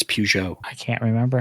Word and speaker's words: Peugeot: names car names hey at least i say peugeot right you know i mean i didn't say puget okay there are americans that think it's pronounced puke it's peugeot i can't remember how